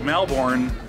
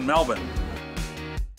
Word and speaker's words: Melbourne: cruise is Melbourne and when you spell it it looks like Melbourne but locals pronounce of Melbourne what's your name Michael